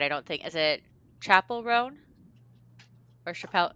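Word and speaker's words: Chappell Roan: don't think is it Chapel rone or Chappelle it's Chapel right Chapel rone not chapel chapel like a yeah a chap like church yeah like I always want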